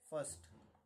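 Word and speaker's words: first: मी तुम्हाला कळावा त्यासाठी R silent आहे ना याच्यामध्ये फर्स्ट पहिला किंवा पहिले ठीक आहे फर्स्ट र लिहूच नका आर सायलेंट आता फर्स्ट आला याचा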